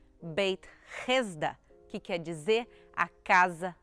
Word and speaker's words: Beit Hesda: Aqui, a poucos metros do Portão dos Leões, a gente já encontra a entrada de Betesda, ou como se pronuncia em aramaico, Beit Hesda, que quer dizer a Casa da Misericórdia.